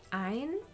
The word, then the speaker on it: ein: Interesting that in Dutch the A is pronounced een, and in German it's pronounced ein, so similar but different.